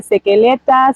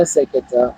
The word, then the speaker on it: Seketa: I'm glad that you actually pronounced my surname correctly. It's rare, it's actually very rare that people pronounce it correctly. Wow. I Yeah. hear Sekeleta, Sekeletu, Seketi, and I'm just like, okay, Wow.